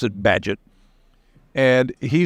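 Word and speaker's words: Bagehot: badgett it's spelled b-a-g-e-h-o-t but the the British pronounce it badgett and he said that the purpose of a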